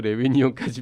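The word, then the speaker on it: Réunion: 내 손 놓치마를 읽다 보면 하여튼 그 레위니용 영어로 읽으면 리유니온이에요. 리유니온이라는 스펠링인데 그거를 이제 레위니용이라고 불어식으로 발음을 하는데 그 섬을 찾아보게 되고요. 그다음에 다른 분들도 이런 짓 하시는지 모르겠습니다만 한국에서 레위니용까지 비행기 값이 얼마인가 이런 거를 얼마던가요?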